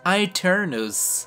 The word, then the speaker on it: Aeternus: the unique Gatling Laser known as Aeternus, or with an ancient Latin accent, Aeternus.